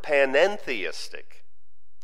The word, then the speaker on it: panentheistic: to use the term panentheistic it's a very similar word but that one two-letter syllable makes quite a difference while pantheism maintains that the the divine and the universe are identical panning theism says the divine and